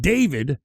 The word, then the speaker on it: d4vd: has turned into a recording artist uh named David uh spelled as D4 VD. That's the way you spell it.